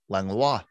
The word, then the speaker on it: Langlois: You say Langlois. Yeah. So Annette's maiden name was Langlois, Langlois is what we would say here in Pittsburgh. But it's French, of course, and in French it's Langlois.